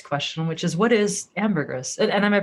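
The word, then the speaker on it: ambergris: So, so tell let's start just asking the obvious question which is what is amberers and am I pronouncing it correctly?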